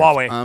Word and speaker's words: Huawei: Huawei, yeah, you're saying it right.